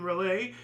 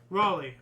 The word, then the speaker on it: Raleigh: nonviolent coordinating committee in Relay, popularizing the song as a protest anthem. I know I said it wrong. It's Riley or something, right? It has to be North Carolina or something? Raleigh, okay.